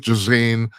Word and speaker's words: Ghislaine: What if Ghislaine Matt, whatever how the fuck you pronounce her?